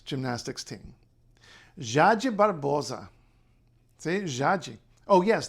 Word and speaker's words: Jade: team jaaji Barbosa see jaaji oh yes the J by the way it's not like in Spanish it's not it's got